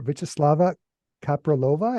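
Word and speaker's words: Vítězslava Kaprálová: I also want to thank you for introducing me to the music of, help me out with the pronunciation here, Vyacheslava Kapralova.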